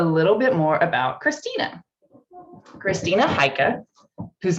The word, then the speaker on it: Christina Heike: questions so a little bit more about christina christina haika whose name i often mispronounce but i'm now saying correctly is a